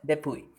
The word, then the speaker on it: DePuy: That is it is spelled like DUPUY, and let me call it DEPUY.